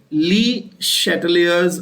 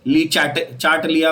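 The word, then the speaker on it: Le Chatelier: The pronunciation is important, please don't mess up the name very badly, ठीक है। ली चार्टलिया principal, चार्टले principal, ऐसा कुछ नहीं बोलने का है, ठीक है।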